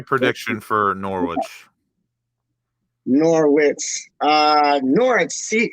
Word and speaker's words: Norwich: for norwich norwich uh norah c is pronounced no the y the w silence so like the w speak my language excuse my language but yeah forget the w it's like when i